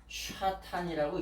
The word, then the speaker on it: 사탄: 이렇게 쓰는데 이 사탄이라고 하는 말을 이렇게 원래는 샤탄이라고 읽습니다.